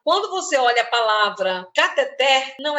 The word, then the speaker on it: cateter: A palavra cateter termina em R.